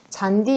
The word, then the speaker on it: 잔디: 잔디 역시 마찬가지죠. 디귿과 이가 만났잖아요. 그러면 지읒으로 바꿔줘야죠. 라고 해서 잔지라고 발음 안 하죠. 그렇죠? 그냥 잔디라고 한다. 왜냐면 이 잔디가 하나의 형태소이기 때문에.